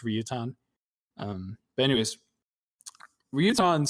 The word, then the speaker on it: Ryutan: in chinese same guy the chinese name is longtan in japanese it's ryutan um but anyways ryutan